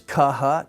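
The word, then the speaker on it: χ: And so these are the letters, kaha, taha, paha. And if we put it in English, the first one would be like if we put the K and H together in blockhead. kh, blockhead.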